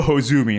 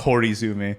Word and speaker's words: Hozumi: yeah wind fairy well it's also hozumi not horizon you keep adding syllables to things kaelin i can't read